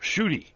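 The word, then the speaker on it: Ncuti: Who you know the the guy's name spelled NC UTI and probably somebody gave the you know pronunciation his name is pronounced shoy and I'm going there's um there there's no s or H in that name missing letters there but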